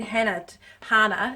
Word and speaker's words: Hana: I need Hana, it's pronounced. I need Hana to rotate my bearings.